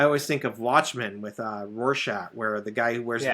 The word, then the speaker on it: Rorschach: So, the spelling looks a little weird, but the pronunciation is Rorschach.